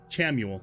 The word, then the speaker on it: Chamuel: Just Samuel except it's pronounced Chamuel with the ch.